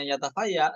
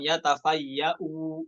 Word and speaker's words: يتفيأ: Yatafaya ya, bukan yatafayau ketika wakofnya. Oke? Hamzanya madmumah kan? Yatafaya. Ya, bukan yatafaya ya, jangan tahan ya. Yatafaya seperti itu, bukan yatafayau, bukan jadi mad badal, namun disukunkan.